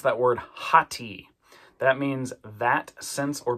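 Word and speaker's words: ὅτι: See, it's amocrron tao iota and it's got a rough breathing and an accent there kind of together. So, we're going to pronounce that word hati.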